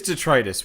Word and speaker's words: detritus: - Tetris - yeah I see two pronunciations Tetris and detritus was a Latin it and one is right it is detritus what the [ __